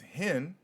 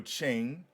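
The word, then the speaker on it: חן: So, in Hebrew, grace, which is H2580, which is hen or chain, depending on how you would like to pronunciate it.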